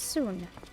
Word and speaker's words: Sun: I'm half Korean, and my middle name is spelt like sun, but it's pronounced Soon.